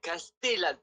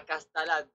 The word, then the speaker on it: Castellane: a béb qui m'appelle c'est Castellan pas castalan ah ma castalan castellade ah maqu est-ce que tu peux raonter Castellan ma Castellane sucré au marseillais Castellan Castellan Castellan cass t ok il faut vraiment prononcer le T ok avant d'accord là